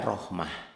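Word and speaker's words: رحمة: Ini tuh, rahmatun, mautun, mautan, mautin tetap aja rahmah. Rahmati, rahmatu, rahmata tetap aja rahmah.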